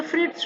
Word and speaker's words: Fritz: Fritz shop means बेटा यहाँ पर झेड़ जो है ना बेटा, झेड़ वो साइलेंट है, ओके। तो फ्रिट्स शॉप, फ्रिट्स शॉप मतलब एक व्यक्ति है उसकी दुकान।